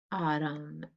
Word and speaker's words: autumn: letter so underline it autumn and n is silent so we can cross